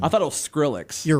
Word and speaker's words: Skrillex: That might have been Skillrix. I don't think it was. How do you say that band's name? I thought it was Skrillex.